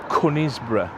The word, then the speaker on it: Conisbrough: It's all about this castle and this place, Conisbrough. And that's how we pronounce it. That's the correct That is the correct way for the Yorkshire pronunciation.